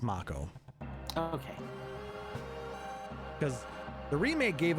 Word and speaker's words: Mako: sure on the pronunciation well the remake tells us it's mako okay because the remake